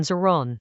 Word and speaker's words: zìrán: The Tao models itself on Ziran, pronounced Ziran.